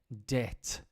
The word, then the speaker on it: debt: capital de la next one is important for pronunciation debt d e b t but the B is